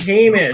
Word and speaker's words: Hamish: It's Hamish. Pronounces it Hamish.